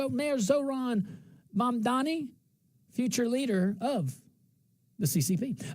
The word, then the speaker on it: Mamdani: Mayor Zoran Mamdani, future leader of the CCP.